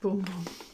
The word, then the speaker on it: Bum Bum: out this one says here's the tea it's pronounced boom boom okay and what do you know we've got